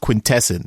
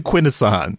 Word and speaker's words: Quintesson: you pronounce Quinn asan there's no debate you guys made up a new pronunciation for the show and forced it on us never in any previous transformers media has anyone ever pronounced quintesson it's always been Quinn asan it's always been Quinn